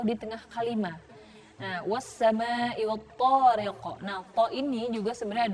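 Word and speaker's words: الطارق: Was-samaa'i wat-tariq. Wat-tariq. Dia ada di akhir ayat, maka dibacanya adalah qalqalah kubra.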